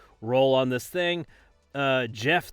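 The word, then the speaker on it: Geoff: on this thing uh Jeff the god of biscuits I am the god of biscuits even though it's spelled g e o FF which is perfect because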